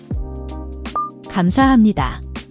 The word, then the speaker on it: 감사합니다: The gam has a soft G sound.